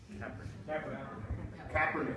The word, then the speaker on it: Kaepernick: Am I pronouncing that correctly? Capernick. Capernick. I'm not a sports fan, so I don't want to Kaepernick.